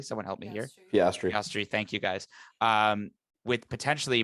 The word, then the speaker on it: Piastri: And especially with a lot of with Oscar Piastri, if I'm pronouncing it correctly. Someone help me here. Piastri.